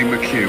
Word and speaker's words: McHugh: We've got another 5-second penalty for car number 25, which is, how do you say that one? McHugh? Yeah, that would be McHugh, won't it? Yes, it is, yeah.